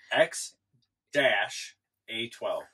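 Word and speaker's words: X Æ A-12: X-A-12. So the A-E connected together is pronounced dash. Mm-hmm. So it's X-A12.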